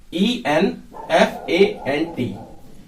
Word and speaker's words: enfant: तो आइए अब तीसरा देखते हैं, ये है ENFANT, इसको पढ़ा जाएगा enfant, enfant। टी साइलेंट रहेगा, गार्सों में भी एन साइलेंट ही है, गार्सों।